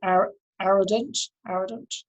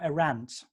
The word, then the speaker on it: Arendt: philosopher, who in 1952, Arrogant? Yeah, I don't know how to pronounce it. The Origins of Totalitarianism. That's Hannah Arendt. Arendt, okay. Stand corrected. Or is it Arendt? I don't know. I know who you're talking about, though. Arendt, I think it is.